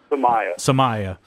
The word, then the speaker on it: Samia: Dominique Arn and and drew Samia is how you pronounce his last name samaya coming over what do